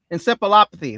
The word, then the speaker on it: encephalopathy: Scroggins battled symptoms consistent with chronic traumatic I can't even pronounce that. Encephalopathy.